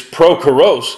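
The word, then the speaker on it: Πρόχορος: means lover of horses the name prechorus in the greek is pro kurose and his name means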